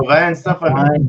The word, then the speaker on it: Weihenstephaner: But it's somebody pronounce that for me. There you go, Weihenstephaner. Weihenstephaner.